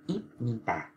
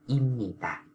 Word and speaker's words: 입니다: Người ta không đọc là ít ni tà đó.